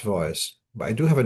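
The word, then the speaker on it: צבאות: hear the name as it being pronounced as Tzvokos. It's pronounced Tzvois.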